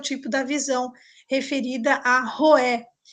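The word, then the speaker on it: Roeh: Então, nós temos, anotem aí, Roé, se escreve R-O-E-H.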